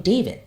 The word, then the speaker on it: D4vd: singer David Anthony Burke, better known by his stage name David, but spelled with a 4.